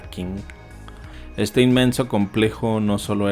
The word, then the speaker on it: Qing: los emperadores Qing o Qin, como quieran. Sé que se pronuncia Qin, pero me gusta Qing.